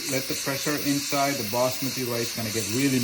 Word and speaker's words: basmati: So the reason being is basmati rice, you can say whatever you want, basmati or basmati. I call it basmati rice because that's how Indians pronounce it with an accent, basmati, you know what I'm saying?